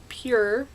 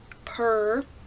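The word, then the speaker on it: PÜR: I say it pure. Some people say purr. That's up to you.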